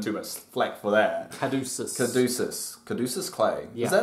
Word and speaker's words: Caduceus: It's pronounced Caduceus.